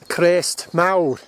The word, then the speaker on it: Crest Mawr: to the crease or the Crest is pronounced Crest Mao which means great crest Mao is big or great last week I was